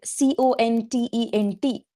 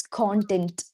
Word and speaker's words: content: It is the word c o n t e n t. It has two pronunciations and two meanings. One is content. Content and the second one is content. Content. Yes. The information that satisfaction or happiness that you have.